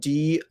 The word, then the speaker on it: doubt: So the first thing that I want to say is that doubt, and it's spelled D-O-U-B-T, the B is silent. You do not pronounce the B.